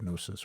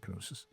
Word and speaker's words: Knossos: Knossos, which is or I've heard it pronounced different ways, Palace of Knossos or Knossos, and we could walk to the Palace of Knossos.